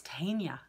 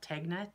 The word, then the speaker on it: Tegna: I really want to knit the Caitlin Hunter pattern, I think it's Tegna sweater. I know a lot of people call it Tegna. It's spelled T-E-G-N-A, but I believe it's pronounced Tegna.